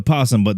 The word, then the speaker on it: opossum: Now, was it a possum or was it an opossum? It was a possum, but the O is silent.